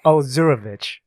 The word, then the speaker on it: Ozurovich: It took me till third grade to know how to pronounce it properly. So okay, I don't take any offense. Okay, Ozurovich.